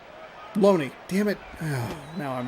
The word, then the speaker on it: Loney: I'd said it differently, and then I was like, oh, I thought I heard Looney. That's it. We're done. The rest of the season's over. Because I can't pronounce one last name. 0-2. So Loney.